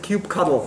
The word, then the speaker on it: kubectl: interface which is called cube ctl i pronounce it cube cuddle because i i like how this sounds um cube cover is